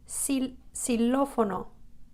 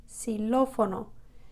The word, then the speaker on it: xilófono: In this particular word, xilófono, xilófono, it's pronounced like an S.